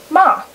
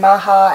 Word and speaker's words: Mah: my families and then my last name is ma which people struggle with because there is a silent h and for years it's been maha and maher or mayhem or anything like that but it is